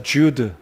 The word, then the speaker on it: Jude: 헬라어의 발음으로는 이오다가 되겠습니다. 우리 발음으로는 유다이고 영어 이름으로는 JUDE, 그래서 주드 또는 주다라고 할 수 있겠는데, 아무튼 유다의 이름을 따라서 이 책의 제목이 붙여졌다, 이렇게 기억하시면 되겠습니다.